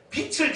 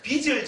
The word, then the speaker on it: 빚: 제가 늘 이것을 발음할 때 빛을 졌다니까 우리 집사람이 여보 빛이 아니고 빚을 져서 그렇게 말하는 거예.